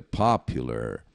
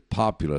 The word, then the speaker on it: popular: mas inglês se pronuncia Popular Vamos ouvir e repetir Popular acentuação na primeira sílaba Popular Popular Você viu que